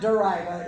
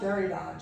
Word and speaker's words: Derrida: Better than people who pronounce this guy's name as Derrida. Okay, it is definitely not Derrida. It is Jacques Derrida, just for future reference.